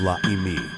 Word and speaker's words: Eme: They call themselves lai, the Spanish pronunciation of the letter m.